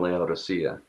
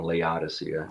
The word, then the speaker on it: Laodicea: and the church in laodicea or laodicea depending on how you say it so um it